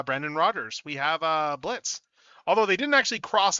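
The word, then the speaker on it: Blitzø: Rogers, we have uh Blitz, although they didn't actually cross out the he would actually hate this toy because, you know, he treats the O is silent.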